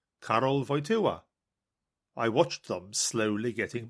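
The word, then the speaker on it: Karol Wojtyła: It took the BBC half the afternoon just to teach their reporters to pronounce his name, Carroll Voya.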